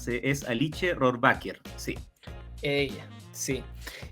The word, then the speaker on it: Alice Rohrwacher: Sí, a todo el mundo le cuesta porque tiene por un lado que es italiana y su apellido es de origen alemán. Es Alice Rohrwacher.